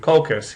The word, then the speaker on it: Colchis: He had to travel all the way from Iolcus, which is over here in northern Greece, to Colchis, yes it rhymes, which is on the far end of the Black Sea.